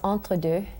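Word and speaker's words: entredeux: entredo correctly for me it's pronounced entredu thank you very much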